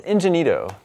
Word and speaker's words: Ingenito: Making his GameScoop debut today, joining us, is Vince Ingenito.